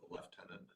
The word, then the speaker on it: lieutenant: Go back to the old lieutenant. Yeah, where did that come from? The F part, because it was never spelled with an F, was it? It's only in Britain.